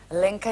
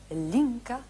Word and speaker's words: Lenka: Lenka Filip Víte bolku že Francouzi někdy vyslovovali Lenka jako linka jako linka linka linka linka jako to jako v Brně taky byste byla linka Filipov kytaristka zpěvačka by